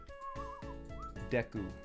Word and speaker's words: Deku: 16 months welcome back it's deku because it's a japanese thing right deku fj thanks for